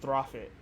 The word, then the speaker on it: Prophet: one character pro flip it's pronounced profit they were able to